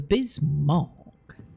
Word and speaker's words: Bismarck: The Bismarck. Is that better? Bismarck. Again, I do the hard R because the Southwest British dialect is very erotic. We pronounce R's as a R.